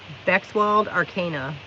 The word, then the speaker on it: Bexwald Arcana: Bexwald Arcana is how you pronounce that.